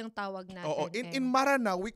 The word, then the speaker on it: Maranao: Pati nga yung spelling ng Maranao inaano nila. Kinwestiyon tayo. Kinwestiyon din. Magdidig deeper kami dyan sa Maranao spelling na yan. Actually, the right spelling is M-E-R-A-N-A-W. But the pronunciation is Maranao.